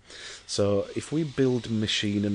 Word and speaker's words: Mashean: It's M-A-S-H, like mash, like mashed potato, and E-A-N, which is from lean. So if we build Mashean, and it's these digital canvases, thanks to the builders a few doors away.